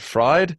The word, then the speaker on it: Fried: Fried? Fried, as in eggs, yes. Oh, as in how it's spelled.